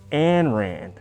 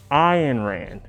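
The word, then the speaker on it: Ayn Rand: iron rand yeah yeah iron rand not and rand iron rand if you start if anybody claims to be a uh iron ran acolyte and pronounces her name as an ran gun shapiro uh i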